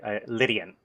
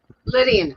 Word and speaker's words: Lydian: couple hours it um the original way that you pronounce it is actually the correct way lydian lydian okay think think lydian mode you got it you'll